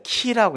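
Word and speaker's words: χ: 네, 이 X가 이제 키라고 있는데 이 크리스토스, 이제 크라이스트를 영어 크라이스트를 헬라어로 크리스토스라고 이렇게 읽어요. 이게 원문이고 그리스 원문이고 이 X가 그 발음이 아니라 키죠. 키.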